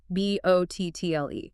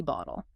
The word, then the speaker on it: bottle: You learn it in citation form with a crisp T bottle. But in American speech, that T is trapped between the O and the L vowel sound. So, it becomes a flap.